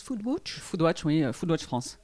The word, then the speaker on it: foodwatch: de l'oms est footballeur on prononce foule butch photo adjoint vaudois de